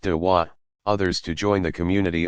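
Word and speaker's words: دعوة: Proselytizing is called inviting, dwa, pronounced dawa, others to join the community of Islam.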